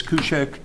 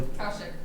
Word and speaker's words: Kaushik: I suggest that we move the new business before the old business so that Ms. Kushek, am I pronouncing that correctly? Kaushik. Kaushik? Kaushik. Kaushik. Yes.